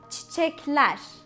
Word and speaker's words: çiçekler: So let's say çiçekler. Ler is the plural suffix. So the stress is on ler.